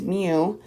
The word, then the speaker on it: mu: That's how you say it, is mu.